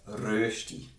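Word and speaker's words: Rösti: Swiss dish known as rosti which is correctly pronounced as Rusty it's basically hash browns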